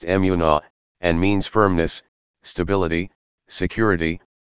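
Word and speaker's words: אֱמוּנָה: the hebraic word for faithfulness is deepen at pronounced immuno and means firmness stability security moral Fidelity yea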